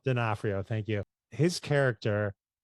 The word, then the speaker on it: D'Onofrio: one of my movies I love is Men in Black, and Vincent, I don't know how to pronounce this. D'Onofrio. D'Onofrio, thank you.